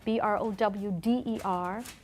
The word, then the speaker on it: Browder: women also that you should know aelia Browder b r o wde r Aurelia Browder the case is named after her